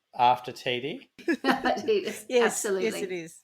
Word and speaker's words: Tiede: also known as TD and the reason is it's spelled t-i-e-d-e-td Tita tidy tidy tidy tidy tidy is the way I say it but I've also heard it pronounced Tita so yes TD is what it should be I think it's